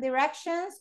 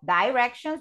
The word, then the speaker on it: directions: of places, right, and directions or directions, because both pronunciations are valid. You can say directions or directions, okay, and the two are okay.